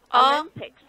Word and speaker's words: Olympics: This is pronounced as ah. So ah. Olympics.